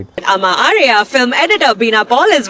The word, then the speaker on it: Amma Ariyan: You're not calling your mother in the the It is Amma Ariyan. Short, short, short, short, long. That's the vowel sequence. Always, even when you want to ask somebody how to pronounce something, ask for the vowel sequence. That is what will clarify things for you. So, this film is called Amma Ariyan, not Amma Aryan, as most people are saying.